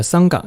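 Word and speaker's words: संघ: 那么再讲到梵文里面桑嘎，就是僧伽和桑嘎，藏语的发音是简敦，它是一个意义。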